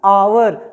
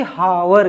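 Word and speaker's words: hour: आवर, न कि हावर कहते हैं, ठीक। तो इसका उच्चारण क्या हुआ? आ से होगा, न कि हा, ठीक।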